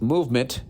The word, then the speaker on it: MVMT: With fair prices, unexpected colors, I didn't see that coming, and clean original designs, Movement, pronounced Movement, it's MVMT, grew into one of the fastest growing watch brands, shipping to over 160 countries across the globe.